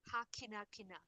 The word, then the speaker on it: hakinakina: Hakinakina. Beautiful, yes. Ha kina kina. And you carried that A nicely.